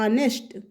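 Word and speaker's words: honest: लेकिन इसका हिंदी प्रोनाउंसिएशन हिंदी उच्चारण क्या आ रहा है? आनेस्ट। आ क्या होता है? वोवेल होता है। इसलिए यहां पे क्या आएगा? एन आएगा।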